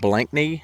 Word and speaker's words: Blankney: I'm in another village in England called Blanknney. It's spelled B L A N K N Y.